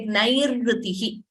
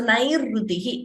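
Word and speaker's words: नैरृतिः: r, where, for example, in a word, it is easier to pronounce, like nairrutihi. So nair, the first r you hear there is the repha, rutihi, r. So nairrutihi, in that word, you have this letter.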